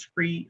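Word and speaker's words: SCRIE: to two different constituencies one of them is spelled s-c-r-i-e the other one is spelled d-r-i-e these are two of the flyers uh that represent those two distinct names same program different names that's because scree is tailored uh to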